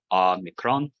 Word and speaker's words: Omicron: Omicron, short A sound. That's why it's Omicron as opposed to Omega.